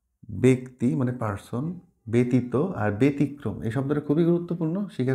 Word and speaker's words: ব্যতিক্রম: মানে পার্সন ব্যতীত আর ব্যতিক্রম এই শব্দটা খুবই গুরুত্বপূর্ণ শিখে রাখো ব্যতিক্রম মানে এক্সেপশনাল হ্যাঁ ব্যতিক্রম এটা কিন্তু আর ব্যতিক্রম না এটা হবে ব্যতিক্রম ব্যক্তি এই তিনটা শব্দ